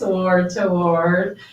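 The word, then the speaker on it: Ward Toward: So my book is called Word to Word, which is a little hard to pronounce. Word to Word. It sounds like war, W-A-R. It sounds like W-O-R-D.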